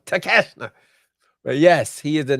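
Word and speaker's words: Takeshita: The New International Champion that's how you say his name tashna yes I thought it was how how you Tak oh okay no tashna but yes he is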